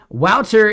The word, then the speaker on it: Waltr: yeah yeah yeah like Walter is basically Walter and like the French version of Walter is godier and then he just like butchered the spelling of it because it's actually a